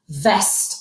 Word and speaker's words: veste: Veste, en jean, a denim jacket. So jacket, veste, silent E on the end.